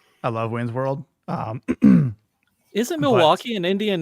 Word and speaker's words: Milwaukee: In fact, it's actually pronounced Milwaukee, which is Algonquin for the good land.